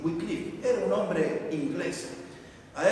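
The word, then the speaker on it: Wycliffe: Había un hombre, este hombre se llamaba Juan Wikliff, no se pronuncia así, se escribe su apellido así. Wicliff era un hombre inglés, a él le llamaban el el lucero del amanecer.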